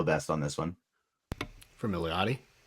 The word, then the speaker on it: Milioti: For Milioti? How do you pronounce the last name?